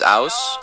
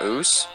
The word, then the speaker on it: Ouse: my name is Ouse. That is how you say it, by the way. It's not Ouse.